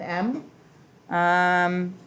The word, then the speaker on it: mu: long tail out front this is not an m um to make it like you would a u